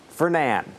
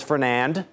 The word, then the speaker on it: Fernand: Fernan, I should say. Tropical storm Fernan. You don't pronounce the D. It's a French name. I just recently learned that. I thought it was Fernand, but it is not.